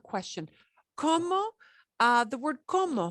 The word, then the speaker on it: como: como uh the word como how there is no difference what so ever in the pronunciation of como the verb meaning i'm eating coma and como meaning how there is no difference at all you here's where you